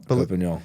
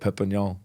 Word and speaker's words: Perpignan: Perpignan, yeah. Is that how you pronounce it? Perpignan.